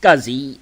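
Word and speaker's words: SCSI: of peripherals to computers it's pronounced scuzzy sk u ZZ wise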